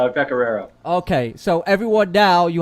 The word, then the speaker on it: Pecoraro: All right, it's Pecoraro. Okay, so everyone now, you have the correct pronunciation of his name.